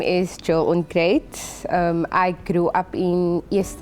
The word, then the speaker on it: Onkruid: My name is Jill Onkruid. I grew up in East River. So my brother-in-law is from America. So the way he pronounces it is Onkruid. And obviously it's Onkruid.